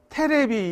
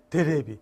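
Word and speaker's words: テレビ: 옛날 할아버지들이 테레비 이렇게 못했어. 데레비.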